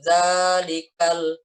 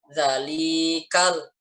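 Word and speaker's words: ذَٰلِكَ: nikel Zalika ledaknya panjang dzalikal jangan dalikal Galih kalau salah dalikal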